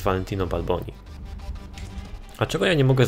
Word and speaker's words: Valentino Balboni: Ale przydałoby się wziąć w końcu moje upragnione Valentino Balbino. Valentino Balbino. Ja tak na nie mówię. Oczywiście poprawna wymowa to jest Valentino Balboni.